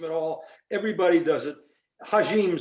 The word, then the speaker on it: Hajim: Hajim sounds much better, but it's Hajim, unfortunately.